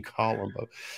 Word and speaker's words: Columbo: The English pronunciation, all right. The proper English pronunciation, Columbo.